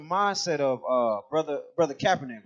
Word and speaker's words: Kaepernick: is basically the mindset of uh brother brother Kaepernick right that's how you say his name this